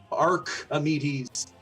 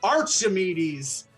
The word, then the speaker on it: Archimedes: it wasn't necessarily tusk Arc amides Jack I already said it wrong Archimedes Jack or Michael who